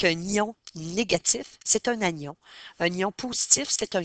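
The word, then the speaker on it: anion: La façon de le retenir négatif, on prononce vraiment le N. Et dans le mot agion, on prononce aussi le N. Par contre, dans positif euh on il n'y a pas de et dans cation, il y a pas de N.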